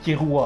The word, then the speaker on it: Killua: Déjà, il dit Killua, il y en a qui disent Killua. Le jeu, il dit Kirua.